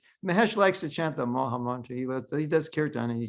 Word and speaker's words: Maha Mantra: And when you can tell people, my name is Maha, well, you have to pronounce it properly. It's a proper pronunciation. It's Maha Mantra.